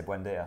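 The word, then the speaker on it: Buendía: million for the guy who I always can't pronounce his name. You're going to say Buendia?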